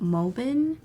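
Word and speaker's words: Mobbin: like this website called movin that's the right pronunciation and mobi bien has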